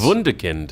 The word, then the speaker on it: Wunderkind: How do we pronounce this there, Wade? Is it Wunderkind? Yes. Wunderkind.